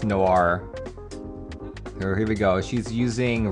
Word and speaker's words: Noir: so i was like which way do you pronounce it so she said it's noir here we go she's using rao 1013 and